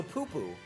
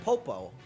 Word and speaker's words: Popo: It's Popo. Okay, so Poo-Poo. Okay, well, I was close, Medic. You gotta admit. Nana and Popo.